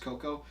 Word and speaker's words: cacao: But it's pronounced cocoa, even though looks like it's spelled cacao.